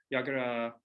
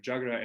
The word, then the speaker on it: Jagara: And that is the traditional country of the Yagara, actually no, Jagara in this case, Jaraware and Giabal peoples.